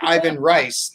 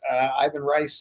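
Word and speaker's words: Ivan Reis: I call him Ivan Reese. I've heard Yvonne Reyes. I've heard all kinds of things.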